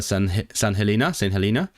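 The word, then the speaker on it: St Helena: Mae yna hefyd nifer o diriogaethau tramor Prydeinig mewn rhannau eraill o'r byd fel St. Helena. I know it's pronounced St. Helena because I listened to the Wendover Productions podcast ac ynysoedd y Falkland.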